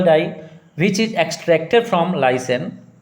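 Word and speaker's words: lichen: Litmus solution is a purple die which is extracted from लाइसेन. लाइसेन read करते हैं, CH silent है यहाँ पे, लाइसेन बोलते हैं इसे.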